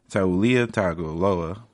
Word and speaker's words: Tagovailoa: So Taulia Tagovailoa, former Alabama quarterback, has announced before last week that he was going to transfer.